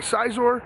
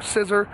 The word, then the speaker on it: Scizor: The Metal Coat will evolve Scyther into Scizor, or Scissor, however you want to pronounce it, and then Onyx into Steelix.